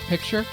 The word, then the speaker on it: picture: Because he didn't mean like, because it sounds like the word picture, which people often say wrong. Yeah, picture. Their accent makes them say pitcher instead of picture.